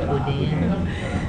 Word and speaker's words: boudin: How do you say it, boudin. Steve? Boudin. Okay. No. That was weird. Boudin. I don't know. it's spelled with an I, but it's more, it sounds like the E, like boudin.